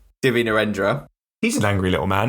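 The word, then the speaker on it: Divya Narendra: nend I how the you pronounce his name no no you got it right I did get it right div nendra he's an angry little man isn't he another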